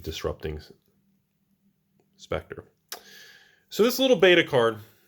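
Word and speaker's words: Disrupting Sceptre: Some people call it Spectre when you're kids and everything, but it's pronounced, I believe, Disrupting Spectre.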